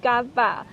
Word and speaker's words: Cát Bà: 在越南语中的发音 Gaba。